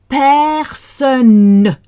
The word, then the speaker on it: personne: So many people say personne. Like, are you a person? A what? It's personne with the clearest N.